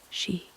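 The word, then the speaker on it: し: In Japanese, four is pronounced she which also means death.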